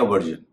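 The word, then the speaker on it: version: है जैसे पेंशन या वर्जन आप देख रहे होंगे पेंशन में एस का उच्चारण में श कर रहा हूं और वर्जन में मैं कर रहा हूं ज तो कहां पर एसाय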